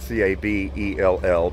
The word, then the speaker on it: Cabell: reaches of cattle County spelled c-a-b-e-l-l pronounced Cabell like rabble rather anyways uh just